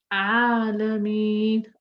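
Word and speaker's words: العالمين: Don't say Alameen. No, Alameen. Okay, and say la, la. Don't say law. It's not law, it's la.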